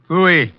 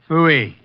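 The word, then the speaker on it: Pfui: Phooey. What's that? Phooey. It can be spelled in several ways. I spell it P-F-U-I. Phooey.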